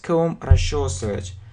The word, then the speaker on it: comb: so bright so bright we don't pronounce be and comb he comb he combed